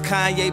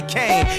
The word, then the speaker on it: Kanye: Now all I need is y'all to pronounce my name as Kanye, but some of my plastic still say came.